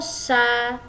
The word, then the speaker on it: chats: Ce sont nos chats. Ce sont nos chats ya. Dibacanya ce sont nos chats. Jadi C sama H itu dibacanya sh seperti huruf shod kalau bahasa Arab.